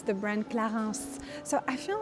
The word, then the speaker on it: Clarins: And pronunciation-wise, you say Clarins.